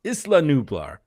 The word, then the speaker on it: Isla Nublar: out why that is isla nublar right that's how you should pronounce it islam four years after